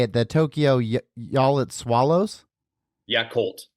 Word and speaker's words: Yakult: do you say it the Tokyo yit swallows yakult yakult swallows yes the Tokyo yakult swallows and so